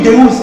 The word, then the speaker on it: Deus: Deus, on dit Deus en français parce que vous prononcez mal. Nous, les portugais qui avons la lusophonie, on parle Deus.